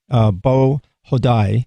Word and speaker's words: Beau Hodai: What is now one thing you mentioned is that in your report here, and if you just tuned in, we're talking to Beau Hodai.